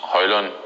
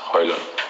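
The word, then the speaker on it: Højlund: But the correct pronunciation is Hojlund.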